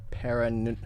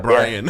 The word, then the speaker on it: Brian: We got Paran. Hello? Paran. Paran? Hello? Paran? It's like Brian. It's just Brian, but Tony is like mispronouncing it.